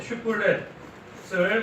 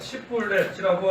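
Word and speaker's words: 쉽볼렛: 그가 아니라고 말하면 그들이 그에게 슈플렛을 말해보라고 하고 그가 바르게 발음하지 못하고 시플렛이라고 하면 요단 나루에서 그를 잡아 죽였는데 에브라임 사람 가운데 죽은 사람이 42,000명이나 되었다.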